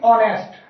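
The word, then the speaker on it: honest: बोलेंगे अवर ठीक है अगला है हमारा हा ओ एन ए एस टी इसे हम बोलेंगे ऑनेस्ट ठीक है और तीसरा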